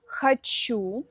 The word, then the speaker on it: хочу: Я хочу ударение на окончание.